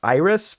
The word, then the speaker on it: Eyeriss: So this particular user mentioned a paper called it's spelled, I might be pronounced Iris, but it's spelled EYERISS.